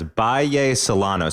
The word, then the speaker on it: Bahía Solano: to talk about and you said it's pronounce Bay salano so give a sense